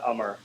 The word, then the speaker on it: Amar: It's pronounced Amar, just like Amar without the H.